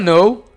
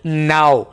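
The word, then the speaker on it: know: यहाँ पर आपने के को साइलेंट रखना है और इस वर्ड को आपने ऐसे नहीं बोलना आई डोंट नाउ। नाउ और नो में फ़र्क होता है, ठीक है?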